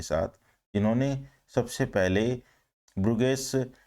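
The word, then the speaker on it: Bruges: इसका प्रोनाउंसिएशन थोड़ा सा ध्यान में रखिएगा, जो मैं वर्ड बता रहा हूँ, क्योंकि हम अभी ओल्ड इंग्लिश के बारे में बात कर रहे हैं। एक्चुअल में इसको ब्रूज और ब्रुगेस दोनों तरीके से साउंड किया जाता है।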